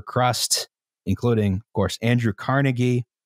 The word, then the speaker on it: Carnegie: about Andrew Carnegie is the reason why I pronounce his name Andrew Carnegie, which is that he demanded, under threat of serious legal action, a correction in every newspaper that pronounced, that suggested his name was pronounced that way. And he insisted to his dying day it was Andrew Carnegie.